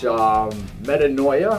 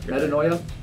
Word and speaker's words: Metanoia: And then Persephone, which Metanoia, I think is how you pronounce it. I think. Metanoia.